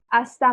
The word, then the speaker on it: hasta: hasta mañana, hasta, देखो H को silent, H हमेशा साइलेंट होना है, म्यूट कर देना इसको। hasta mañana, hasta luego, luego, luego, hasta luego, hasta luego, see you later, है ना?